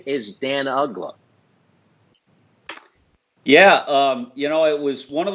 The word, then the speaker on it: Uggla: And I don't know, it doesn't seem to be that tough of a name to pronounce. Uggla. Just look at it, Uggla.